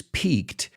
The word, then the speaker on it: piqued: soccer player PK but we pronounce it just like Peak like a mountain peak also we use the